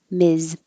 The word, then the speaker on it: Ms: woman and that's it ms and the same vowel but the s sounds like a z miz ma'am no d ma'am